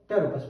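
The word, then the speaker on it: Pteropus: टी फॉर टेरोपस, P silent है टेरोपस, तो इसका नाम हो गया।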